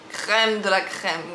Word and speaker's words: crème de la crème: Because they don't know how we don't pronounce the R in the same way actually. Okay, in America it's gonna be crème de la crème, and in French, crème de la crème.